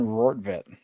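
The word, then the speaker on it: Rortvedt: Ben Roorvet put him in a tough spot there at the end of the game to produce with a chance to tie the game.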